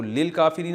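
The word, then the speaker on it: لِلْكَافِرِين: तो लिल काफिरीन असल में था ली अल काफिरीना तो अलिफ साइलेंट हो गया वल काफिरीना और ऐसे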